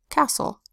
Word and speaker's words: castle: The T is silent in these words.